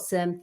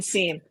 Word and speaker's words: SIEM: So for a company that like a lot of SIEM, I call it SIEM. A lot of people in the industry call it SIM.